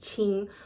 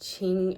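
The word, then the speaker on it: 青: It's all pronounced ching but the meaning is different. The red card is pronounced ching and it is used to describe this somewhat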